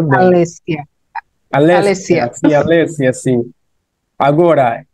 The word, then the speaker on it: Alessia: Alessia, né? Não sei se está a pronunciar bem. Alessia. Alessia, Alessia. sim, Alessia, sim.